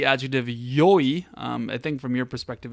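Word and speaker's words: よい: In fact, it is E, like it's the letter E, which comes from the it is the slurred pronunciation of the actual E adjective yoi.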